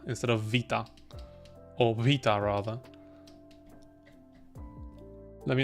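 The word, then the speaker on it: βήτα: funny like I would I would have said beta instead of Vita or VA rather let me know what you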